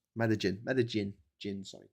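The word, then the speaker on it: Medellín: So, Pablo Escobar, head of the Medagan C um the uh Medagan uh what's it called? Medigin. Medin. Jin, sorry. Jin LL is pronounced J, isn't it?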